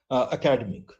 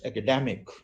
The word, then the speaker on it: academic: Academy then it's academic this is the word which most of the people pronounce as academic it's not academic academic and then academician academician